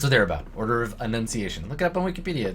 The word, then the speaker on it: Annunciation: it written down uh the the order of enunciation it's Annunciation with an a uh they're named after